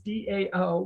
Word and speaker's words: DAO: are decentralized autonomous organizations otherwise known as dao which is pronounced dao and a decentralized autonomous